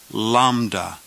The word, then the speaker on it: Lambda: the word kitten Kaa Lambda is pronounced as the L in the word lamb or little Lambda o Mo is